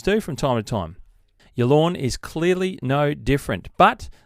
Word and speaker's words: Yallourn: And we're going to start in Victoria to Yallourn Golf Club. I think that's how you pronounce it, Yallourn, Y-A-L-L-O-U-R-N, Yallourn.